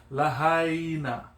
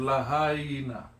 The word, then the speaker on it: Lahaina: It's lahaina. But when you let it roll, it's lahaina. But you pronunciate the I in lahaina, E, yeah?